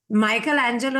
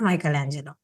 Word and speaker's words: Michelangelo: Like, see, Michelangelo is actually pronounced Michelange. It's not Michelangelo.